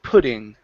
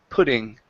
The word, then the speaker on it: pudding: change this one here let's hit a flap T pudding pudding wooden poo there you go pudding so she was